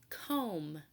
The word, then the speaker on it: comb: same ending sound as comb comb close your eyes say comb comb ends in the M sound the B is a silent consonant it does not make a sound the word comb ends